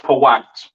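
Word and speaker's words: פוט: Pronounced Pawat, all right?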